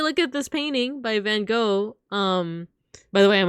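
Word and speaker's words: Van Gogh: yeah if you look at this painting by Van go um by the way I'm American so of course I've pronounced it van go but I've also heard that like I guess British people say van goof but the actual like Dutch way to say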